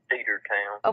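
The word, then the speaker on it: Cedartown: I do wonder about is it pronounced Cedar Town it's it's Cedar Town okay like a cedar tree so I I mean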